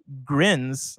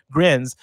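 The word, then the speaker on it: Grijns: Led by studio head David Grins, I'm going to say Grins, it's spelled G-R-I-J-N-S, which is, I've never seen that before, Grins, and creative director Roland Lesterlin.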